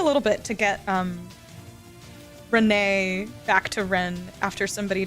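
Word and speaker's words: Rean: Like it took me a little bit to get um Renee back to Ren after somebody told me that it was pronounced Ren because I totally was just saying Renee.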